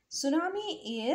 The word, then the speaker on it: tsunami: Tsunami is, here T will be silent.